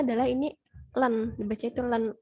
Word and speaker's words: ln: Di sini tuh cara bacanya adalah ini len, dibaca itu len X.